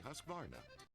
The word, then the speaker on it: Husqvarna: So I teach you now how to say Husqvarna. You say husk like corn and varn like varnish without the ish, and nah, like nah, I don't want any other stinking chainsaw or trimmer or mower.